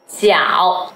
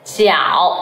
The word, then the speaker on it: 饺: People who speak English might pronounce it as 饺. Can you tell the difference? 饺, 饺, like joke. George. But in Chinese, this initial is pronounced as ji, ji, jiao.